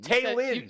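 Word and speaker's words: Taylen: Hey, real quick, it's Taylon Green. Taylon. You said it wrong all week.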